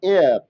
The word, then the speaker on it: heir: लेकिन HEIR, एयर, जिसका हिंदी होता है उत्तराधिकारी। समझते हैं? नहीं, उत्तराधिकारी वो तो AIR होता है। हवा हवा की इंग्लिश AIR, एयर। हाँ, यहाँ पे एच साइलेंट होता है। बिल्कुल, यहाँ पे एच साइलेंट रहता है।